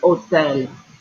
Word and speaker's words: hotel: El hotel. Okay, this is the exact same word as hotel in English, right? But in Spanish, the H is always silent. So it's hotel.